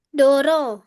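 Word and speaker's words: 道路: Berarti Misan bacanya apa Misan? Ah, Doro.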